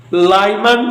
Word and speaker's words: Lyman: Number 1, लाइमन series, हम spelling बोलेंगे LYMAN, लाइमन series लिखा।